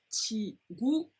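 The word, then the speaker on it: 친구: Now when it's in the second syllable or thereafter, we pronounce it more like a G. So for example, 치구, 치구, 치구. Alright, it's 치구, 구 with the G sound rather than 치구.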